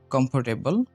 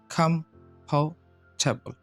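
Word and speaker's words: comfortable: ৩ নম্বর শব্দটা এটা আমরা উচ্চারণ করি কমফোর্টেবল। তো এটা যদি আমরা সঠিকভাবে উচ্চারণ করি তাহলে উচ্চারণটা হবে খামফাওটেবল, খামফাটেবল, খামফাটেবল, খামফাটেবল।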